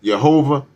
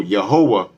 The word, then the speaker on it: Yehowah: pronounced Yehovah, classical Hebrew, the W in YHWH has a W sound as opposed to a V sound. If I'm not mistaken, I want to say Slavic and Russian influence is what led to the Hebrew language starting to use the V. So, but back during this time, it would have been a W sound. So Yehowah would be the correct pronunciation of the Tetragrammaton.